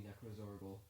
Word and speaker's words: Necrozorgol: I have never emotionally recovered from zombie necrozorgol. Necrozorgol. Jaundice. No, it's necros. You said it right the first time.